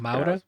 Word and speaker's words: Moura: Yeah, and our boy Narco, Pablo, Wagner Moura? Mauda, I think it's Mauda? pronounced Mauda. Kaylee Spaney, who plays Jesse, and Stephen McKinley Anderson, who plays Sammy.